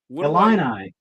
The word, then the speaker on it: Illini: Like, how do I pronounce that? Illini. Illini? Yes.